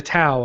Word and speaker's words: Tao: point and can't remember it was the tau of steve i think it's pronounced dal though well what it